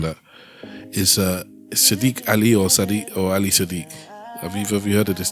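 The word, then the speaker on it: Ali Siddiq: Ali Sadiq.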